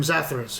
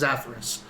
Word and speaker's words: Zaphoros: he's like you know i'm zacharus he goes okay he's atheros no no no i'm zappos that's zaphoros zaphoros he keeps trying to correct you to say it correctly sounds familiar you're just